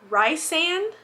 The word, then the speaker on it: Rysand: Rysand? It's not Risen.